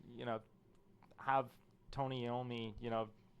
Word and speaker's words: Iommi: you know, have Tony Iommi, you know, sorry, I'm saying Iommi because I'm Italian, so most people say Iommi, Tony Iommi, but I don't know, more accurately, I think it's pronounced Iommi.